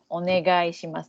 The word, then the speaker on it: onegai shimasu: So yoroshiku, then onegai shimasu.